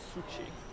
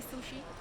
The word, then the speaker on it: Shuchi: pronouncing your name Shuchi. Shuchi. Shuchi. Yeah. So both like Shuchi. Yeah. Shuchi. Yeah. Sorry That's about okay. that. No worries. People call me sushi.